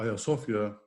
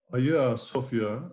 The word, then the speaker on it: Hagia Sophia: use the word maybe a sofia which is the greek pronunciation it means holy wisdom